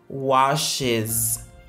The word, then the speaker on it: washes: En français, en anglais, on dira Maggie, le sujet, washes, washes. La terminaison ES se prononce is.